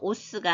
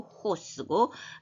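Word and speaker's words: ὅς: 그래서 오스가 아니고 호쓰고 해가 에가 아니고 해 오가 아니고 호 이렇게 거친 순표 때문에 그렇게 발음하는 것입니다.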